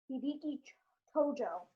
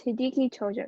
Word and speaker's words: Hideki Tojo: Oh, can you pronounce it? Hideki Tojo. Okay, yeah, so it's Hideki Tojo.